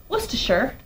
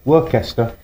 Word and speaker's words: Worcestershire: And then you're going to add some Worcestershire. How do you say it? Worcestershire. Worcester. Worcestershire.